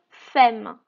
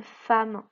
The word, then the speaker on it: femme: Normalement, on devrait lire une femme. Mais une femme, moi, je ne connais pas ce mot. En fait, à force de le prononcer, c'est devenu une femme. Même s'il y a un E ici, on dit A.